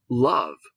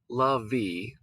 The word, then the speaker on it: love: But do we hear the E? It's not lovey. Lovey, come here, please. No, it's just love, right? Love. So we don't even hear that E, but we do hear the from the O.